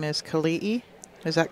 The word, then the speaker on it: Kelii: Yeah, apparently the name is Kelii. Is that correct? Kelii? Okay. Kelii. That both I's are pronounced.